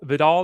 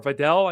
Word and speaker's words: Vidal: Vidal that should change or Videl I guess is how we're pronouncing it on Monday Night Football.